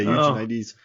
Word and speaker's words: Eugenides: Jeffrey wrote this book, I knew how to pronounce his name. Eugenides I think it's Eugenides. Yeah, Eugenides.